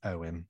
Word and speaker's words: Ewan: I hate that I know this, but it's pronounced Owen.